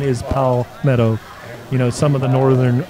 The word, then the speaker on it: Palmetto: it's like a friend of pow the correct pronunciation is pal meadow you know some of the northern our northern